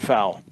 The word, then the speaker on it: foul: He drove me crazy when he said foul. It was 2 syllables. I said, Dan, it's foul, not foul. He'd say foul.